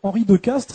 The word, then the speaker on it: Henri de Castries: Et donc Henri de Castres, ça s'écrit Henri de